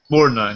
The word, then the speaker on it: Borgnine: How do you pronounce Mermaid Man's last name? Borgnine? I'm guessing it's Borgnine? Borgnine, yeah, that's it.